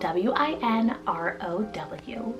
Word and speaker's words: Winrow: Then for the boy side, we needed to add a Win name, and I saw the name Winrow, spelled W-I-N-R-O-W, Winrow. Now Winrow reminds me of Woodrow, and it means from the nook.